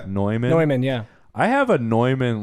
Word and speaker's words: Neumann: and it's like it's like newman or no no i mean neumann yeah i have a